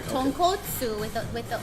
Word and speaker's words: tonkotsu: So you gotta be careful like how you say it, because if you order tonkatsu, You're not gonna get the Why don't you soup start putting broth food in?